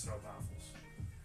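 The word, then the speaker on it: stroopwafel: stro waffles sto waffles it's pronounced St apples but yeah ah interesting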